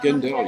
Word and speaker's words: Gendel: Gendel, yes, Yeah, you did really well.